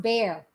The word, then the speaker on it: Bexar: Bexar is pronounced bear.